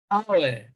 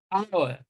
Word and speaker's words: hour: In D, H is silent as well, hour, not hour, hour, hour, all right?